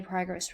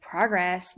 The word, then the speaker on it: progress: Notice how the stress of the syllable can be placed differently depending on whether the word is a noun or a verb. So you can make progress, you can make some